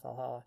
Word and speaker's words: VA-11 HALL-A: It's spelled VA-11 Hall A. I'm just gonna fucking call it Valhalla.